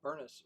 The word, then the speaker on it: Bernice: Bernice rhymes with furnace.